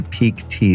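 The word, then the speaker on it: Pique Tea: forward slash store or go directly to the peak tea site which is spelled P IQ u e te a so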